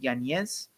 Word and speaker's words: Yanez: I'm sure Yanez, I heard is how you pronounce his name, Yanez.